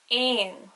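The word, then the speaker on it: éan: e father for example the word e father a n which means bird would be pronounced like in or the word for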